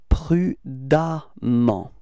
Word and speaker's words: prudemment: And the strange thing is that you will write E-M-M-E-N-T for the adverb, but then you pronounce as if there was a A, okay? It's prudemment, okay?